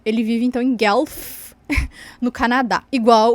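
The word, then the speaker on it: Guelph: e ele vive em eu pronuncio o gelf ele vive então em gelf no Canadá igual o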